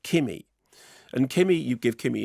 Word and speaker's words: Kimi: by uh steven soderbergh when i said kimmy and you said how'd you spell it i said k-i-m-i like that okay so directed by